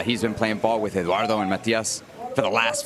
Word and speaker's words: Eduardo: Can you roll your R's? Let me try. Eduardo Perez. Nice, even though you don't have to roll it on the Perez, but I like that you can.